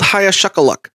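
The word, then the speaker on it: Hiaschuckaluck: Old Hayashakaluck. Uh, can you spell that for me really quick?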